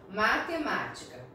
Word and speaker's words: matemática: Matemática. Vamos lá, quando a gente fala, né, devagar, separado as sílabas, a palavra matemática, vamos lá, ma-te-ma-ti-ca. Nós falamos mais forte o ma, né, o ma acentuado.